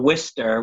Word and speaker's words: Worcester: I'm in Worcester, which is one of those words that if you look at the spelling of it, it's nowhere near what it's pronounced, but it's right in central Mass.